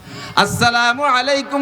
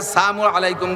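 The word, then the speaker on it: السلام عليكم: বিরক্ত হবেন না বসেন আসসালামু আলাইকুম ওয়ারাহমাতুল্লাহি ওয়াবারাকাতুহ সালামটা দেবেন শুদ্ধ কইরা আসসালামের লামটা যদি উচ্চারণ না হয় আসসালামু আলাইকুম যদি বলে নবী আলাইহিস সালাতু সালামকে ক্রিটিসাইজ কইরা কাফেররা আইসা আসসামু আলাইকুম বলতো।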